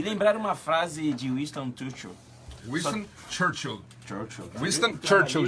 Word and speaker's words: Winston Churchill: E lembrar uma frase de Winston Churchill.